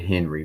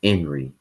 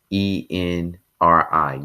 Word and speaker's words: Henri: I said Henry, my bad. It's Henri, Enri. You pronounce it Henri, not Henry. It looks like Henry, but it's Henri.